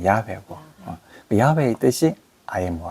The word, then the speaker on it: 야훼: 발음을 우리나라 말식으로 하면 여호와고 저쪽으로 하면 야훼고 야훼의 뜻이 I am who I am.